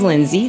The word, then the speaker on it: Lynnsey: And am I pronouncing your name correctly, Lindsay? You are felt like Lindsay. It smells very phonetic. Yes, it is very phonetic.